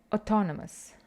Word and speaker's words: autonomous: to describe character now be careful with the pronunciation of this adjective autonomous autonomous and now I sound like a broken record it's not autonomous like you would say it Romania but autonomous yeah and all an autonomous